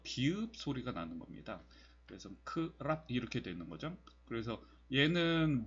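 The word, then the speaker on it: ครับ: 그리고 여기에 리을 사운드가 있는데, 이 리을 사운드는 R 발음입니다. R 발음. 그리고 R 발음도 영어식 R 발음이 아니라 그 혀를 굴려서 내는 소리 있죠. 르르 뭐 이런 식으로 내는 소리입니다. 그래서 크랍 이런 식으로 발음을 하는 것이 정석적인 거죠.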